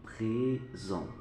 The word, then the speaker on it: présent: Alors, le S entre deux voyelles se prononce Z. Le présent.